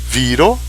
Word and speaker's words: viro: Viro é homem, veja o acento, viro, mortis, duas sílabas, mortis, um homem morreu, né?